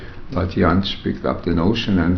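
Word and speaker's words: Jantsch: Another person that I wanted to ask you about, who's, well, Janisch, is that the way you pronounce it? Janisch, yeah.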